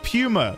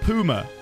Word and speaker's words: Puma: Puma is Puma, not Puma.